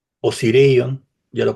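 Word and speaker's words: Osireion: así, la Esfinge, el templo del Valle y Osirion, ya lo mm, pronuncié bien, muy bien.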